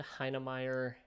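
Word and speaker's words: Heinemeier: dhh um David okay I'm GNA try to pronounce his uh middle name Ham yes David hire Hansen so I can the only reason I know how to pronounce that is because my last name is Ryman so um you know uh little Germanic uh name there um but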